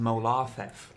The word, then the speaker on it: Molar Thief: Except it's pronounced Molarthef. Molar Theft. It's old Lorderonian.